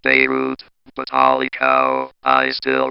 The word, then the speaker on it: Beirut: That's pronounced Beirut, but holy cow, I still remember receiving the news of that explosion, and I just could not have felt better.